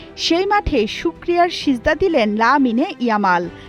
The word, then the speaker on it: Lamine Yamal: যেই মাঠ মেসি ছেড়েছে বেদনার চোখের জলে ভিজিয়ে সেই মাঠে শুকরিয়ার সিজদা দিলেন লামিনে ইয়ামাল যাকে অনেকেই ডাকেন আলামিন জামাল আরবিতে এটাই শুদ্ধ উচ্চারণ যুবক লিওনেল মেসির কোলে